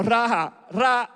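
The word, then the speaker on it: ראה: observando, en el literal es una palabra que se oye así como raja, como raja, en la pronunciación esa que tienen los israelitas y los hebreos, que lo que quiere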